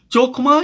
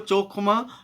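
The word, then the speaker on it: חכמה: चोखमा या होखमा तो ये है ना, या खोखमा भी है ना, इसको कई लोग उच्चारण करते हैं, लेकिन ज़्यादातर जो है वो चोखमा ही इस उच्चारण होता है।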